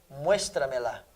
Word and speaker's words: muéstramela: Exemplo. Muéstramela. Ó. Lá, me, tra e um mues. Quarta sílaba.